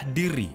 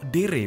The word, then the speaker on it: Dere: dan produktif dan Perkenalkan ini adalah Dir atau Dere bacanya Ya D E